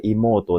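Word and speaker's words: 妹: Untuk soal nomor satu, ya ini kanji ini, cara bacanya adalah imoto desu.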